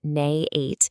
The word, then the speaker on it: n8n: Okay, so at its core, N8, which by the way is pronounced Nay8, is a workflow automation tool.